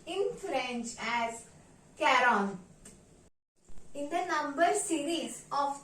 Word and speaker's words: quarante: and four 40 pay attention carefully 40 is pronounced as Kon Kon in French sometimes even if in the